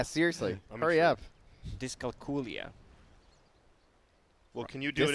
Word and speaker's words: dyscalculia: Dyscalculia. Well, can you do it in Disco? non-Croatian or? Yeah, I can't even pronounce that.